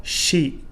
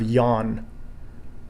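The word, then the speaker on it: 四: For example, number 4, shi instead of yon. Sichi for number 7 instead of nana. And kyu for number 9 instead of ku.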